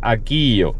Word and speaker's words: Akeeyo: aquí ya habéis visto que se pronuncia aquo no aquello como os he dicho